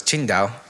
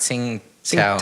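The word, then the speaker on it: Tsingtao: all I drank was Qingdao Qingdao yeah chin down really yeah which is spelled TSI ng t AO hmm oh okay so but it's not singing scout oh yeah oh I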